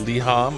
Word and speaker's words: liham: new EP done yay moving to liham yes liham I said it right this is a lyric